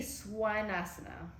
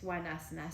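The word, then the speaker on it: Svanasana: Then you see swanasana. Ahí es swanasana. Swan, pronuncias el V chiquito como W. You pronounce the V's in the middle like a W, so it's swa, like a swan.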